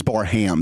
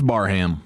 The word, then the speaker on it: Barham: Yeah, I believe it is Barham. That's why I've kind of started to call him Jan Barham. I think he go that's how he pronounces it. He goes Baram.